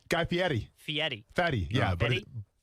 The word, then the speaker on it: Fieri: Guy Fieri. Fieri. Fatty. Yeah, but Fieri? Fieri. but it's Ferry, so just stick with it.